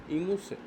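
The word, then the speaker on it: Gemüse: সবজিকে বলা হয় হচ্ছে ইমুসে এখানে জি এর উচ্চারণটা হবে না তো ইমুসে আমরা কিছু ইমুসে দেখব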